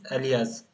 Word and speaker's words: alias: So come to the next point, that is alias or alias. The I think perfect pronunciation is alias.